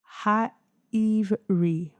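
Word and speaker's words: העברי: Pronunciation, Ha'ivri.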